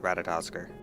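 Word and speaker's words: Ratatoskr: That King Thordan and his Knights 12 did willfully betray and murder the great worm Ratatsos, shattering the peace between our peoples. For the record, that's pronounced Ratatosker.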